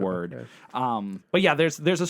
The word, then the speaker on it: Wyrd: Hellboy Web of Wyrd, which I thought it was weird. It was called weird, but it's WYRD. And yeah, there's a story there. It's so just like forget about it. WYRD. Yeah, it's pronounced gotcha.